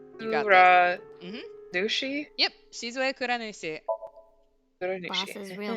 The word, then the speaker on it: Shizue Kuranushi: Take it Shizu- syllable by syllable. Yeah, so Shizue. You got this. Nushi? Yep, Shizue Kuranushi.